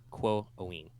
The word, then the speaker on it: Quoin: I think it would be Quo-Owen. Whoa. Okay. It's not like long O like ooh. It's like long O like two O sound. Owen. Quo-Owen.